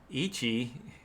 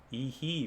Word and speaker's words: Ehe: Ichi, is that How do you say that? Is that Ichi von Skyver? Ehe von Skyver. Ehe. Oh, I thought that was a C. It's another E.